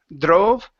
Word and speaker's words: drove: So instead of drove, okay, dr, dr. Pronounce a J sound into the R.